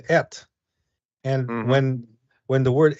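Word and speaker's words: את: word called uh it's it's in Hebrew it's pronounced ET and when when the word at comes into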